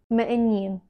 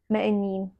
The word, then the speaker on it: m'iníon: Poor Keith My father my father or your father also when a vowel comes after 'mo' or 'do', it is said m', d' your aunt my daughter not 'mo iníon', m'iníon not a big mistake